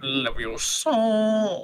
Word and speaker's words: Leviosa: It's pronounced Leviosa.